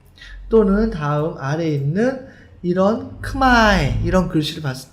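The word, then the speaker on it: ខ្មែរ: 다음 아래에 있는 이런 크마에 이런 글씨를 봤을 때 왜 크메라고 읽지 않고 크마에라고 읽습니까? 커는 어그룹이고 모는 오그룹인데 어그룹을 따라가면은 크마에 오그룹을 따라가면은 크메가 되는데 왜 굳이 크마에라고 해야 합니까?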